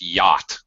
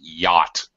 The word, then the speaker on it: yacht: the CH okay just yacht the CH this is a very strange English word we don't pronounce this CH I'm quite unique actually yacht aww sound yacht okay